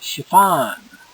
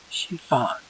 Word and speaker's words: chiffon: This is called chiffon. Chiffon. Chiffon. Chiffon. Chiffon. I've heard it both ways. Okay, both pronunciations actually. Depends what dictionary you look at.